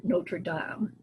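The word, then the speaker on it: Notre-Dame: box office the Hunchback of Notre Dame or Notre Dame as is more appropriately pronounced this is based on Victor Hugo's 1831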